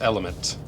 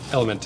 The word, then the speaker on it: LMNT: And we got a nice package from LMNT, which I think is pronounced element.